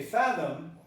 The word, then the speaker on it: fathom: Okay, fathom is pronounced with a stress on the first part.